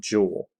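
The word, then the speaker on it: joule: going to have the unit of Jewel kind of pronounced like this almost kind of Jewel uh we're going to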